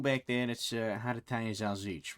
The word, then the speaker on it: salsiccia: How's bit that pronounced again so I don't fuck it up horribly? Salsiccia.